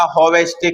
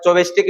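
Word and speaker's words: Chvostek: सी इसके अंदर साइलेंट होता है। जैसे निमोनिया के अंदर पी साइलेंट होता है। ऐसे ही बोलते हैं इसको बोलने वाले चोबेस्टिक भी बोल देते हैं।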